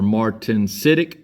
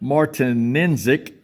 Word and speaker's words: martensitic: And then with that martensic, however you want to pronounce that, M-A-R-T-E-N, martensitic.